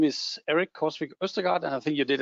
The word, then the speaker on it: Erik Korsvik Østergaard: My name is Erik Korsvik Østergaard, and I think you did a tremendous job in pronouncing that, actually, David.